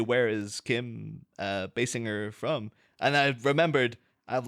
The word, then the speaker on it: Basinger: to say her name apparently she herself has specified that it's a hard it's a b and a hard G on the G but it is sing